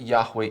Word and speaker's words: Yahweh: But then we go on and we ask, okay, so how do we know that Yahweh is the right way of pronouncing it?